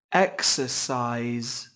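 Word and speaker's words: exercise: excise á xe xoài execise nay có 3 âm tiết trọng âm rơi vào âm Tiết đầu tiên các bạn nhé các bạn lưu ý không quên âm của em thế âm tiết thứ ba còn chứa nguyên âm đôi ai ai các bạn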